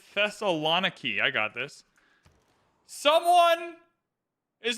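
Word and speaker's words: Thessaloniki: in our new city it's pronounced the Thessalon key I got this someone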